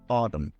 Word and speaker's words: autumn: So if you check here, sometimes when we have the MN, we pronounce like regular M, column, autumn.